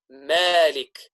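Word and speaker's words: مالك: lightness instead of heaviness is when it's preceded by a light letter a letter of tartik which is not malik but malik again it's pronounced in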